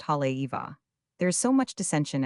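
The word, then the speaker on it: Haleiwa: Halgo means house beautiful and is pronounced Hale Eva.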